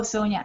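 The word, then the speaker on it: Zonia: sonia yes yeah and z but it's pronounced as an s oh sonia okay so this is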